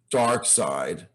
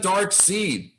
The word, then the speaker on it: Darkseid: of apocalypse now obviously kirby intended dark side and some people said dark seed i think my brother and i call them dark seed and really either pronunciation works like submariner and submariner